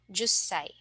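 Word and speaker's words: 十歳: pronunciations or special sounds we have one-year-old isai 8-year-old hassai and 10-year-old juai okay so again please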